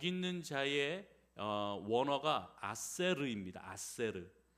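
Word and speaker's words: אָשֵׁר: 아세르. 이것을 히브리식으로 발음하면 아셀 이렇게 되는 것입니다.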